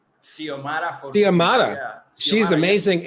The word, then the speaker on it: Xiomara: Well, not young anymore, but I think how do you pronounce her name? Xiomara. Xiomara Fortuna, Xiomara.